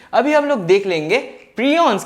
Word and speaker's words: prion: अच्छा ये हमारा वायरस, ये हमारा पायरॉन हो गया। प्रियॉन सॉरी, मैं गलत प्रोनाउंस कर रहा था। प्रियॉन हो गया।